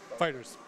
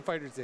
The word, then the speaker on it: FighterZ: Fighters. I keep saying it wrong. I keep saying Fighters Z.